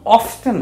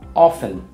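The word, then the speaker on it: often: তারপরে যদি হাউ অফটেন হয়, এটা আরেকটা উচ্চারণ আছে, হাউ অফটেন অথবা হাউ অফেন।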